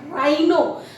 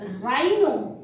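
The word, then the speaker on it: rhino: जब आर के साथ एच आता है, then H is also silent at that time, like राइनो, that is called not राइनो, this is राइनो। राइनो यानी कि राइनोसेरस, यानी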